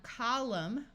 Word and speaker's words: column: hear the n Sound here we have column with a silent n and when we add the suffix is it becomes columnist here we have a